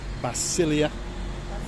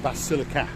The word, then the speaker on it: Basilica: winter season you've got the basilia holiday Basilica I've been corrected you can buy my